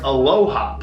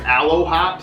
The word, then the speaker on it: Aloha: company is their aloha now i know earlier we might have just said that it was aloe hop so sorry for that until we put it all together phonetically we were like oh aloha like aloha huh i do